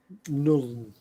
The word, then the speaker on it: null: It's like just pronounce it like none with an L in it. Null.